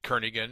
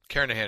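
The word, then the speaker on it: Kernighan: will be using the kernigan and Richie or Kahan I should say the g is silent karahan and Richie C programming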